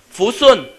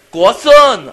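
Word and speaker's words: 国顺: 国顺。国顺啊，你要发音准确。国顺 ,OK。所以呢发音要把口张开。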